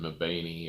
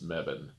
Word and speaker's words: Mebane: We always called it Mebane or Mebane, but apparently it's Mebane. Mebane. That E on the end just doesn't count. Doesn't count. It doesn't make the long A sound.